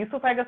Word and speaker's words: oesophagus: तो एक चीज क्या पता रखना है हमको बस, कि इसोफेगस में सर ई से स्टार्ट होता है, वैसे तो ओ से होता है बट ओ साइलेंट है, मैंने बता दिया।